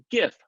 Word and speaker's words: GIF: you believe it is pronounced GIF, like gift, with a hard G.